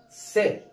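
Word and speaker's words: sit: لكن ديت لما شلنا الاي بقت اسمها ايه؟ ست.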